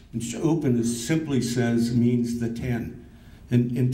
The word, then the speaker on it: Ɂúpǝnkst: And I also want to recognize that we have, tonight we had, in the Salish language, tribal council is pronounced Cha'upan. And Cha'upan simply means the 10.